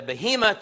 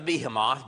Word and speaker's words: behemoth: The behemoth or the behemoth. Both pronunciations are acceptable, but the behemoth and then the Leviathan.